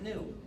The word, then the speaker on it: gnu: in countless wordplays because according to the dictionary the g is silent and it's pronounced new so every time you